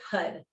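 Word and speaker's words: Har: the mantra it's h it's spelled h-a-r but it sounds like hud okay it sounds like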